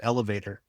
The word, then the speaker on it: ELVTR: Yeah, I'm going to be teaching an online course in comic book writing for a company called Elevator, and that's spelled ELVTR, so only one vowel, Elevator, one vowel, That's .com.